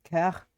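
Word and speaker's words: cœur: Coeur. It's pronounced coeur.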